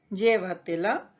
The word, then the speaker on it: llévatela: Y estas palabras sobresdrújulas o preproparoxítonas son aquellas que tienen la mayor intensidad antes de la antepenúltima sílaba. Veamos ejemplos de este tipo de palabras. Por ejemplo, tengo la palabra llévatela, dígaselo, cuéntamelo.